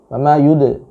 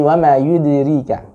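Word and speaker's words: وَمَا يُدْرِيكَ: Anda mengkolkolahkannya, ya, dengan kolkolah yang terdengar bunyi tebal. Wa ma yud, tapi wa ma yudrika. Wa ma yudrika. Apa sebabnya? Karena huruf dal itu tipis, istifal, ya.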